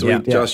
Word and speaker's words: Whedon: Whedon, Joss Whedon.